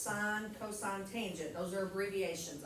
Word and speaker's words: sine: really understand why sine s i n e needs an abbreviation when you just chop one letter off but uh the first time we start this every year someone will say sin it's sine so sine cosine tangent